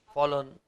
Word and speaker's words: forlorn: ये नाउन है, फोरलोन, hope, फॉलोन। Are silent होता है इसमें, दोनों आर साइलेंट हैं।